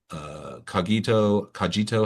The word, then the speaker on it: Cogito: She also held several executive roles leading global people teams at tech companies such as DraftKings, Cogito. How do you say that? Yep. Cogito.